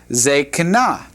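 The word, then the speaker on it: זקנה: If it began with the comets, it's reduced to a shavah. Remember that rule? It's reduced to a shavah. So this would be pronounced zekana. Zekana.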